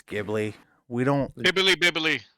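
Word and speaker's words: Ghibli: really nice T shading Studio gibli or jibli however you like to pronounce it GI it's gibli we don't bibbly bibbly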